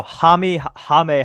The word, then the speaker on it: Jaime: My pick is going to be Jimmy Jaquez Jr. Obviously. At least say his name right. What is it, Jaquez? Jaquez. Jamie Jaquez Jr.? No. Jaime Jaquez Jr.